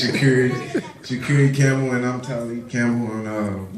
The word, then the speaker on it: Shu'Kuri Campbell: She pronounced his name wrong, but it's all right though. Everybody do it. It's Shu'Kuri Campbell, and I'm Talib Campbell, and we the Cboyz.